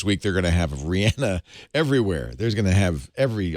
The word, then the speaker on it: Rihanna: read something that said people mispronounce her name it's Rihanna oh really well you